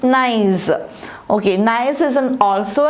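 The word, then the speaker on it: gneiss: second nice gne is the way to pronounce it is nice okay nice is an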